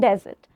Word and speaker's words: desert: Dessert and desert. Desert is when you go to Sahara Desert. It's filled with sand, right? There's no way where you can get some water or anything. So that's desert. But this is dessert. Dessert. Please make sure you pronounce it correctly.